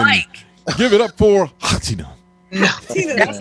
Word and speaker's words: H'atina: H apostrophe A. H apostrophe. The H is silent.